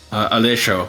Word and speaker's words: Alessio: I realized that like that last syllable, I might be over pronouncing it, like because like there's that Western influence, or American, but I'm Canadian, but like you know what I mean, Western that in that sense, influence.